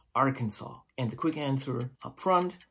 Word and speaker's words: Arkansas: the area the cancel Arkansas is originally the French spelling and the S is silent why is it French